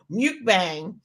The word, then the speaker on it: mukbang: it right but yes Muk like luck what mukbang um is something that